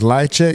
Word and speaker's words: Lychwick: And as we were sitting down and thinking about what is the most, you know, so his name is Lichek. Even though it's spelled life, I don't know nothing.